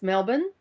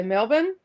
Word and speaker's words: Melbourne: And it's not I don't know how you say it, but it's Melbourne, not Melbourne.